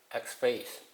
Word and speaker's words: XFCE: Okay, so XFCE, I'm not sure how to pronounce that, but some say that it's X-Face.